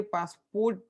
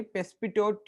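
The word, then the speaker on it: Passepartout: इसको थोड़ा सा य पासपोर्ट नहीं है पेसिट करके फ्रेंच प्रोनंसिएशन है फ्रेंच नाम रहता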